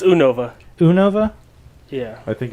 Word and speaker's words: Unova: It's Unova.